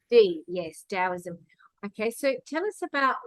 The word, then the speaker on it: Daoism: just so people know GAO the t is pronounced yes Daoism okay so tell us about why taoism is